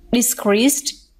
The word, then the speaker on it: decreased: And the next one, decreased, is verb. Therefore, we stress the second syllable.